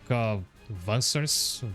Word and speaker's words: Wanzer: From what I've read in the wiki, it's pronounced like Vansers. Vansers. It's supposed to be derived from German.